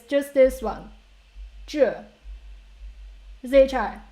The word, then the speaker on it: 智: So when we pronounce this syllable, first of all, we don't change our tongue position. So where you start ch, and keep your tongue there.